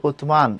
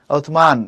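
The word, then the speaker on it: عثمان: হবে আরবি উচ্চারণটা এরকম আরবি উচ্চারণ উসমান না আরবি উচ্চারণ হচ্ছে উতসমান এরকম আমরা রমজান বলি এটা আরবি উচ্চারণ রমজান না রামাদান ওকে এরাবিক যে প্রোনাউন্সিয়েশন হচ্ছে রামাদান উতমান এমন বলা হয় হাদিস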